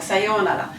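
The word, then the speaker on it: さようなら: connu en français, mais qu'on prononce assez mal habituellement. Donc le yo est allongé et vous allez avoir un R. Donc attention, votre R c'est un L, je le rappelle. Donc Sayonara.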